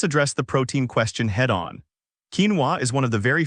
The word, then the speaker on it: quinoa: Quinoa, pronounced quinoa, is a nutritional powerhouse